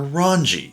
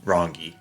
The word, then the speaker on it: Rangi: lucky enough to get rongi on pity you'll also know that I was calling her ranji turns out hard G it's a Ron rongi yeah so not my